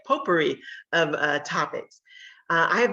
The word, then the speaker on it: potpourri: kind of a poor potpourri that's how you say it potpourri of uh topics i